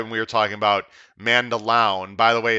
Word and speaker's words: Mandaloun: It was right when we were talking about Mandaloun. By the way, it's pronounced Mandaloun, I've been told, which is his top choice.